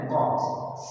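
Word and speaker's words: corpse: कई बार पूछा जाता है कॉप्स प्रोनंसिएशन है कॉप्स सब जि हिंदी में हम कहते हैं स्पेलिंग है सीओ आरटी एस ई सी ओ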